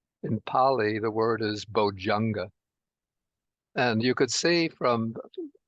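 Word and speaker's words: bojjhaṅga: difficult so in the spoken dialects then the gets changed into J so it becomes bojang so if you pronounce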